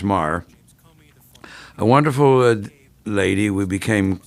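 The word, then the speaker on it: Meagher: cumbersome task sylvia maher m-e-a-g-h-e-r pronounced mar a wonderful lady we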